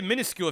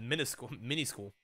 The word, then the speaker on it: minuscule: Pretty minuscule if you ask me. So did I say that word correctly? Minuscule. I did. Did I say it right the first time I said it? I said mini school.